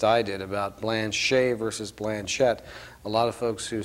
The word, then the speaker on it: Blanchet: see the name pronounced and so that's how Blanchett became the way we are using the name rather than the French pronunciation in fact this September